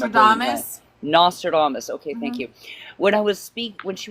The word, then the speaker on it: Nostradamus: Nostradamus.